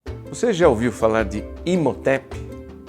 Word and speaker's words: Imhotep: pelo menos desse nome talvez não com esta pronúncia exatamente alguns né Colocam um pouquinho mais de Egito n na pronúncia do nome como in rotep Mas no fim nós